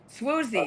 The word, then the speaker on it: Swoozie: Swoozie.